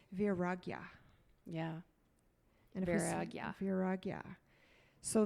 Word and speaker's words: Vairagya: it's because it's a tricky Sanskrit word to pronounce, and it's Vairagya.